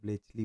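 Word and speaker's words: Bletchley: Blaze इसको ना थोड़ा सा प्रोनाउंसिएशन में वो होता है ब्लेचली बोला जाता है।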